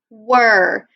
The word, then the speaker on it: were: you knew that one were this word is tricky because we have the sound at the beginning but then that e-r-e makes the er sound can you say er